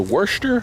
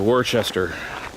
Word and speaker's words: Worcester: Now, the Worcester house, please let me know how it's actually pronounced if people know, is over that way.